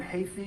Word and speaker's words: Heaphy: My name is Hafey. It's spelled Heaphy. I'm a lawyer at Wilkie